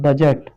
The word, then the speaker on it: budget: ठीक है, तो यहाँ पर आपको क्या करना है, ये डी आपको साइलेंट है।